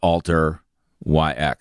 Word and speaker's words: Alteryx: another one is Alteryx the word alter YX so Alteryx is the way they pronounce it simple a YX and they're about an